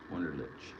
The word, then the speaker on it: Wunderlich: CH sound, not the CK sound. Got it. Wunderlich.